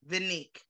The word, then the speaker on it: Vanique: Vanique, like Monique.